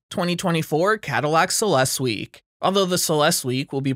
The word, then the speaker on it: Celestiq: Production of Celestiq, pronounced Celestiq, will consequently need to be constrained.